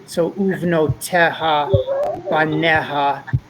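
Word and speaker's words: בָּנֶיהָ: So Uvno Teha Baneha. We don't actually pronounce the Yud.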